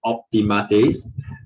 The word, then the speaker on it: optimates: the ultimate party so yeah this word is pronounced optimates uh it's a roman political party this is